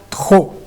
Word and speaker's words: trop: Ou fala mais aberto, mas a gente não pronuncia o P no final, a gente fala trop, ok?